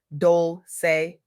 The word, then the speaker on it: Dolce: I'm your host, Dolch, pronounced dole say, like sweet softness whispered in French.